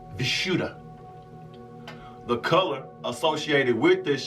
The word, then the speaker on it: Vishuddha: The Sanskrit word is pronounced Vishuddha.